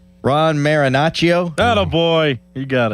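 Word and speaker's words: Marinaccio: Ron Marinacio.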